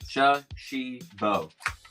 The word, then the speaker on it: Shashibo: But Shashibo, those three syllables right here, actually stands for shape-shifting box. Shape-shifting box. Shashibo.